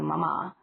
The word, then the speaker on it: mama: I often speak to mama, still with the accent on the second syllable, about it.